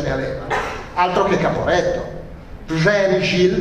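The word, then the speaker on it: Przemyśl: Przemysl, mi ha insegnato un mio amico polacco a pronunciarlo così, Przemysl, cioè la perdita della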